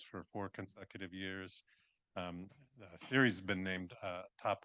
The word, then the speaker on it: Ceres: a sustainability nonprofit called Series. I think I pronounced that correct. You got it. Both my name and series. You got right.